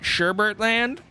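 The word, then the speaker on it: Sherbet Land: Okay, next we have what is spelt Sherbetland, but I'm guessing they meant Sherbertland, because that's how people pronounce it, despite the fact there's not an R there.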